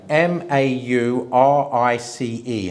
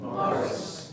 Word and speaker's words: Maurice: um the name the the Christian name. M A U R I C E. How would you pronounce that? Morris. Yes, that's how I pronounce it. So the English pronounce it in America. It's Maurice.